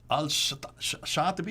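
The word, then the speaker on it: al-Shatibi: here following this we have seven designated readers al shattupi is that who you pronounce it yes in 1194 chose this 14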